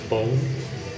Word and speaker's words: Boon: You know that boon is pronounced bone, and so I'm told.